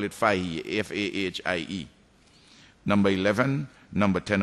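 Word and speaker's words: Fahie: Kitts of Mitcham and Fahy is pronounced up there, but we will call it Fahy, F-A-H-I-E.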